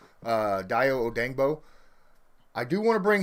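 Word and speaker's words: Dayo Odeyingbo: Even though it's pronounced or spelled one way, it's pronounced another. It is Odangbo. Dio Odangbo.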